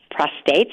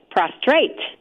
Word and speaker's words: prostate: a fair amount about prostates and I'm going to learn even more by the way lots of people mispronounce a lot of people lots and lots of people say prostrate rather than prostate and so it's mispronounced